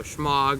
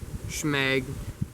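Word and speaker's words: shemagh: So schmog or schmeg, depending on how you choose to pronounce it.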